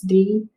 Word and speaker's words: dear: So it's DEAR. You can prove it if you need to. If you prove it, you put the X's under the vowels. The A is silent and the E is long. Dear.